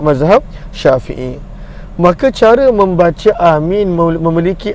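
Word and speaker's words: آمين: yang paling masyhur Bagaimanakah cara bacaan amin adalah dengan Hamzah itu panjang ya minum semestinya panjang Seba itu apa adanya ya dan juga adanya Nun yang sukun maka dengan panjang dan juga takfif apakah masuk taksif tante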